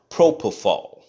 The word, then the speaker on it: propofol: I'm sorry I said I said it wrong propofol okay it's called propofol it gave him a